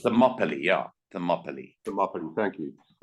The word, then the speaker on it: Thermopylae: And first question I was going to ask you today, how do you pronounce it? You've answered Thermopylae. Thank you. It's Thermopylae, yeah.